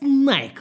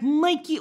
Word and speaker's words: Nike: And this it is pronounced Nike, not Nike or Nika or Nikobegik.